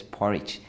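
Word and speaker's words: Poreč: If you missed it, here are some of the highlights from the day one in Croatia coastal town Porek, pronounced as Porridge.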